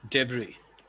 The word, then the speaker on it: debris: is data data here this s is silent the pronunciation is debris yes debris yes and